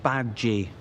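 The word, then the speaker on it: Badguy: International tour manager Dominic bad guys pronounced bad G it's French I was bad guy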